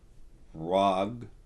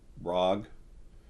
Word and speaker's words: RH'AG: he okay he's um rag the H is silent it's RH apostrophe AG um rag he's um this got